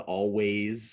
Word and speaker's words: Alvvays: little bit like weird like the always split spell with two v's to kind of be different that was kind of